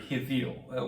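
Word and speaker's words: הבל: out because in Hebrew, the name Abel is actually rendered Hivil.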